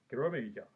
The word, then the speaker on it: Kiramager: to review majin sentai kerameja well actually it's written as machine scenario major but i'm going to say the way it's pronounced now i'll start with